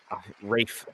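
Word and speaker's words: Ralph: A lot of handheld stuff in there, and you also get great performances by Liam Neeson and Rafe Fiennes, as that's how you really pronounce his name.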